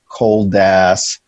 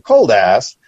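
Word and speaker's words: Koldas: said cool though no i said it's k-o-l-d-a-s oh yeah completely different right but pronounced the same way basically i could tell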